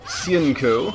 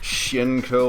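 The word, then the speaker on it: Hsien-Ko: other games besides well dark stalkers off with sienko that's how you say her name i know it's kind of hard to say because a lot of english dubs don't get it right it's like shinko or hasenko it's like if you listen to the different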